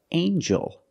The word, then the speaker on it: angel: have with eel angel in this word the G makes a JJ sound like jump and Juice together with the n a regular n Sound not the nasal but the regular n anel angel angel this is an angel